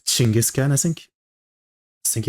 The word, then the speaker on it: Chinggis: It's not Genghis Khan, it's Chinggis or Chinggis Khan, I think.